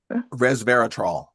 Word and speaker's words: resveratrol: resveratrol.